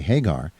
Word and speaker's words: Hegar: in 101.1 FM and our interview with MJ Hagar is brought to you by Bradley books in